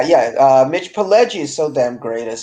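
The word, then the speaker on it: Pileggi: name p p jelly how do you pronounce his name uh pledgie yeah yeah uh mitch palegia is so damn great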